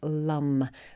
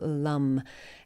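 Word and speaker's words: Lam: is for the word Lum which is spelled l-a-m but pronounced more like l-u-h-m so Lum and that is the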